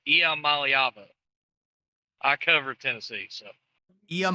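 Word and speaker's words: Iamaleava: DG is that you you pronounce Nico's last name wrong it's not am it's IAM malava I cover Tennessee so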